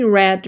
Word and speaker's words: read: 세 번째를 쓰는 거죠 얘는 모양은 갖고 발음이 달 달라지는 거죠 read red R 이요 그러면 얘를 이용해 쓸